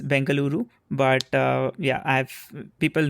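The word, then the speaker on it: Bengaluru: say that yeah uh we have both the names the new name is bangaluru but uh yeah I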